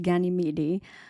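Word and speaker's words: Ganymede: Um, I think it's pronounced Ganyidi who was carried off to Mount Olympus by Zeus and he was to become the cupbearer to the gods.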